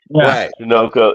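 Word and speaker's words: Janocko: Janokco. It's Janokco. But yeah, Janoko. Jano. I actually saw his name. They actually pronounced it so you could figure it out. It rhymes with Pinocchio.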